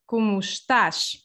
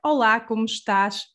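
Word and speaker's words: como estás: uh written okay so to ask how are you you can say hola kumsta for formal or olakum stash for informal treatment so that's the first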